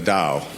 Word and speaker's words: Tao: been researching a Daoism which is spelled t a o i s m t a o the da the word da is just a word that means the way and the opening line